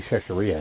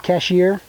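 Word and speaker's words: Chachere's: Tony Chachereapos has one. And you can. How do you say that? Tony Chachereapos. That's the seasoning. It's not cashier. Chachereapos, whatever you want to say.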